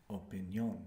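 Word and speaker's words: opinión: we have opinion and in Spanish you're going to pronounce syllable by syllable making sure that you're pronouncing the vowels that they're written and you're going to put the accent on the end opinion opinion opinion because without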